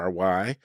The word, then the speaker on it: Loury: My name is Loury, spelled Loury, but pronounced as if it were Lowery.